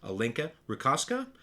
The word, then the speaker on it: Alinka Rutkowska: we're being joined by multi time best-selling author alinka rica author of outsource your book alinka welcome to